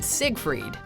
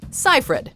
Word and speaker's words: Seyfried: forced to correct others most can agree that the last name has two syllables yet people often insert a mysterious G as in Siegfried said that he didn't hear for me according to Amanda it's quite simple though ciphered which kind of sounds like hi Fred said